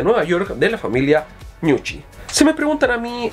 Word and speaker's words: Gnucci: Creo que se pronuncia Gnucci. Gnucci, claro, porque si es italiana se pronuncia Gnucci, ¿ya?